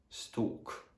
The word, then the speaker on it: stalk: it's not yeah so the letter l is normally not pronounced when it comes after the letters a o or u so for example in the words talk stalk so the letter n